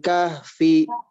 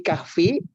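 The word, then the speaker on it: كهف: Nah, aturannya juga ketika berhenti di kahfi itu harus dimatikan hurufnya. Ya. Nah, saya contohkan dulu sebentar. Id awal fityatu ilal kahf. Gitu, jadi kahf.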